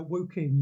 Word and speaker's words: Woking: there in your area and you said it's pronounced working uh woking yes so many years ago before i was